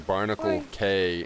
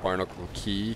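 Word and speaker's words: Barnacle Cay: chat's really mad at me cuz I'm saying Barnacle K instead of Barnacle key cuz apparently you pronounce it Barnacle key and they're like that's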